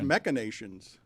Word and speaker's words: machinations: I thought it was machinations. Never heard of it. That's nuts. You don't I know. always thought it was mash with an SH sound, even though it's spelled CH. Machinations, according to the internet.